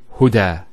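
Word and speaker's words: هدى: Now this is not actually a ya, it's an alif. It's called an alif maqsura, and it's exactly like an alif, the way it's pronounced. It's like a ya without the two dots. So we say huda.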